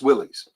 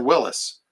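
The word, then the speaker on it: Willys: you pronounce that word that's Willies no is it Willis it's Willis what you talking about Willis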